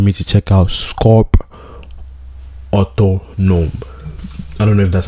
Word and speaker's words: Autonome: time i saw it i thought it was auto-tuned but then i read it it's otto nom you feel me so